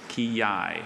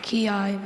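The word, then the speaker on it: quillai: Kiai. Kiai. May I please have any alternate pronunciations?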